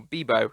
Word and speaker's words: Vivo: Kissing Booth 3, and Vivo, or Bebo, technically pronounced.